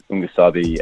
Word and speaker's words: Ungasabi: Yeah, so it's Ungusabi, and it's a Zulu word for what it translates as "Don't be afraid." So yeah, shouts to Robin Furfloy. He obviously named the tune, sort of broke down the whole meaning behind it, and so that's really how you pronounce it, and that's what it means.